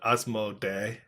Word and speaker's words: Asmodee: And then they had Asmodee. Asmode is Asmodee. I think either one is fine.